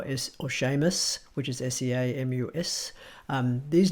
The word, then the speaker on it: Seamus: They all have a tinge of sh to them. You'll hear this when Sean Connery talks, and even the name Sean which is spelled S-E-A-N, or Seamus, which is S-E-A-M-U-S.